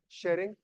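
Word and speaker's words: Tshering: prime minister of Bhutan शेरिंग टोबे टॉप के prime minister of Bhutan शेरिंग टॉप के king है शेरिंग टी सलेट रहता है टॉप के टॉप के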